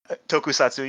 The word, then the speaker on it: tokusatsu: big fan of that I I will not pronounce it right tokusatsu how do you say that tokusatu you got it right yeah tokusatu kind of genre that feel that Vibe uh